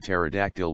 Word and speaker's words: pterodactyl: this was the joke why can't you hear a pterodactyl when it's using the bathroom because the p is silent those are some reasons